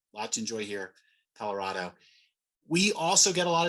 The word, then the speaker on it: Colorado: with the beer distributors my preferred pronunciation would be colorado although i i do acknowledge some say colorado uh and so uh or even not to missouri colorado but colorado is i think probably the preferred pronunciation and we don't upcharge